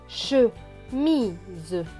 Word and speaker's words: chemise: Ici, le S ne va pas se prononcer S, mais va se prononcer Z, parce qu'il est entre deux voyelles, le I et le E.